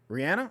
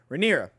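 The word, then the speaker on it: Rhaenyra: as the heir um rihanna riander rand how did you say her name renera ranira wow i was way the hell off renera same age ish as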